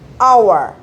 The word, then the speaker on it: hour: Nah, ini tulisannya jelas bentuknya H. Ya, H itu kan berarti konsonan. Tapi kalau dia sudah bentuk pengucapan, dia dibacanya hour. Nah, dia dibacanya vokal.